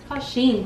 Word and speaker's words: Shein: Bueno, ella encargó ropa de Shein, ¿así se pronuncia, Ale? Shein, pero... Shein, ok.